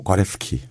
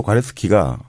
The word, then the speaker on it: 과레스키: 저자가 조반니노 과레스키. 이거 진짜 어렵다. 조반니노 과레스키, 뭐 조반니노 과레스키 뭐 이렇게 발음을 하더라고요.